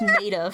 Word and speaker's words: Maeda: It's apparently pronounced Maida for that reason. Maida? No, that Like a apparently- tomato. Yeah, like a tomato.